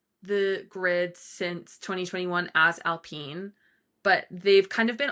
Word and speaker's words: Alpine: Alpine spelled like Alpine but pronounced Alpine because they are French.